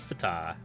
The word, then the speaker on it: Ptah: Ptah is not from Greek, directly from Egyptian, so the P is coincidentally pronounced. So it is Ptah.